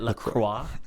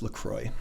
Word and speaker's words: LaCroix: Isn't it LaCroix? No, it's LaCroix. Oh, okay. I don't care how the French say it.